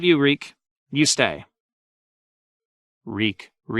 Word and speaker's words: Reek: Reek, it rhymes with peak.